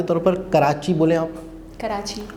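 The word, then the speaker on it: Karachi: अब मिसाल के तौर पर कराची बोलें आप, कराची अरबी में कैसे बोलते हैं? अरबी ज़बान में कराची को करातची, तो कराची तो कराची है अपनी जगह, हाँ। उन्होंने अपनी प्रोनाउंसिएशन अदा की करातशी।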